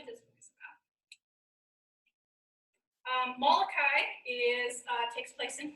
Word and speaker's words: Molokai: the leprosy colony called molokai malakai is how they pronounce it and she is just